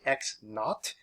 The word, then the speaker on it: naught: what we say is x naught that's zero we pronounce as not so delta x equals